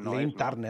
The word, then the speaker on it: Joe Lynn Turner: Jolin Turner. Ah, es Joe. Joe, es Joe. Joe, y luego, ¿cómo es? ¿Lee o Lin? Lin. O sea, es Jolin Turner.